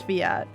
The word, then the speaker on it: Fiat: No one said anything until I was just like, "Is it actually pronounced Fiat or Fiat?" And then Kos was just like, "It's Fiat."